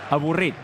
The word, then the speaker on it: avorrit: And the word is avorrit.